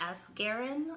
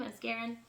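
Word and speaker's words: Asgarian: and it is by Roxana Asgarin, I believe is how you say her name, Asgarin.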